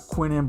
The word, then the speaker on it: Quinnen: All right, so we got Quinnen Bohannon. That's how you say his name.